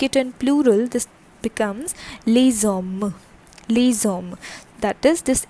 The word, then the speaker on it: les hommes: s is added and the pronunciation also changes. So here the vowel is there and here it is s. Okay, so accordingly this gets connected and it forms the sound like les hommes.